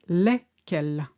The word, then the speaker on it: lesquelles: And for feminine plural, for instance, des chaussures, some shoes, it's lesquels. And it's pronounced exactly like the masculine plural, except it's not spelt the same because you got the double L-E at the end with an S.